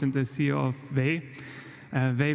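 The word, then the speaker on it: Vay: Vey, by the way, is how Germans pronounce way.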